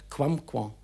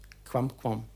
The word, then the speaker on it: quamquam: Müsste man am Schluss das M nur leicht klingen lassen und es leicht nasalieren wollen. Also Quamquam. Quamquam.